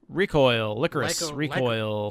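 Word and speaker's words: Lycoris Recoil: My number 8 is Licorice Licorice, Recoil. Licorice. Licorice. Oh yeah, we found out it's pronounced Licorice Recoil.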